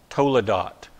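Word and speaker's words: toledot: word generations and Hebrew it's Tola dot Toula dot and if you were to write that out let me just put it this way totally dot okay that's that's the way you'd say it phonetically in English but again this word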